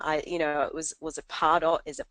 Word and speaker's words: Pardot: of the interview, but it's actually pronounced Pardot. And the reason why I'm telling you this is because it's Latvian, and the word in Latvian means to market or sell.